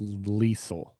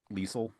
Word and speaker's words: Liesel: It's pronounced Liesel. Liesel.